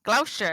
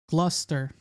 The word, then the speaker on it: Gloucester: down double name double gloss ulcer oh sure Gloucester I want to say it's gloucestors give me